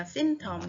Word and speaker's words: symptom: symptom은 Y 첫 음절에 강세가 있네요. symptom, 이것도 조심해서 발음해주면 좋겠어요. 헷갈리는 단어 우리 함께 외워야 더 잘 외워지는 거 알고 있죠.